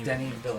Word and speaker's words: Denis Villeneuve: pronounce Denis Villeneuve. It's Denny Villeneuve.